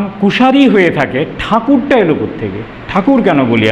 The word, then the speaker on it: ঠাকুর: এবং তারপর থেকে এরপরেই দ্বারকানাথ ঠাকুরের আগেও আরেকজন ঠাকুর ছিলেন, এখানে এই এই ঠাকুর নামটা চালু হয়ে গেল আর কি, কুশারিতে ঠাকুর হয়ে গেল। আর ঠাকুরটাই ব্রিটিশরা তাদের উচ্চারণগত দুর্বলতার কারণে ট্যাগোর বলেছেন।